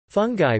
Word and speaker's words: fungi: === Dishes === Fungi (pronounced foon-gee) is a main staple of the traditional Virgin Islands diet.